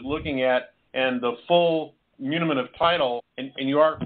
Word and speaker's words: muniment: someone else is looking at, and the full munimen of title, and you are pronouncing it correctly, as is indeed not applicable just to the property itself.